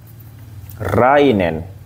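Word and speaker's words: 来年: ini atau nibang seperti ini sambang atau yongbang rainen so di sini agak mentukesah ini ya ya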